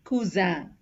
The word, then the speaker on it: cousin: SS, two S's together is pronounced as S, as in coussin, poisson. S, one S is pronounced as Z. It has a Z sound, Z, as in cousin, poison. Here again, have a good note on these two.